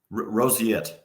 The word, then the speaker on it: roseate: Now, I want to make sure that I'm pronouncing this particular bird's name correctly. Is it roseate? Roseate.